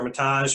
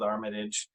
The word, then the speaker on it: Armitage: again my name is armitage or mataj however you want to pronounce it my family generally goes with armitage and so i come